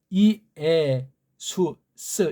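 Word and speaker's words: Ἰησοῦς: 몰랐을 땐 그냥 예수에서 했지만 이제는 이에 수스 이게 주격으로 올려야 되니까 이에 수스예요. 이에는 빨랑하면 예라고 할지라도 이라는 소리 입모양을 내면서 빨랑 해주면 돼요. 너무 그렇게 그냥 간살거리게 촛사이 같이 발음하지 마세요. 이에 수스.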